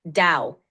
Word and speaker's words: Dao: is that correct yes Dao is pronounced like Dao similar to now it's a key Concept